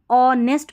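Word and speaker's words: honest: फिर देखिए यहां पर ऑनेस्ट पढ़ना है। एच यहां पर साइलेंट है।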